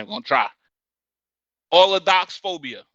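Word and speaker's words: allodoxaphobia: Allodoxophobia. Allodoxophobia. Allodoxophobia. Spell it for those in the back.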